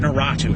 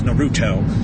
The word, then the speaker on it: Naruto: However, I have to criticize your taste with It's not Natu, it's Naruto.